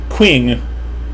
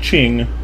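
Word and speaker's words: Qing: guiles well because if you write a queue in english i'm going to say something like queen and that is obviously not how you say ching right so and again i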